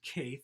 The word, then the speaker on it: Caethe: Vivian, I believe it's pronounced Caethe, that's C-A-E-T-H-E. If I pronounced it wrong, I apologize.